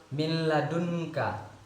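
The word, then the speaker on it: مِن لَّدُنكَ: Jadi contoh dari idgham bila gunnah ini yang lain, apabila nun mati atau tanwin bertemu dengan lam, contohnya min ladunka, min ladunka. Dengan membacanya tidak perlu didengungkan, jadi dengan tanpa dengung, min ladunka.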